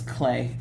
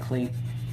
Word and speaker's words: Klee: that paul clay and i don't keep saying his name wrong it's clay even though it looks like clee paul clay was known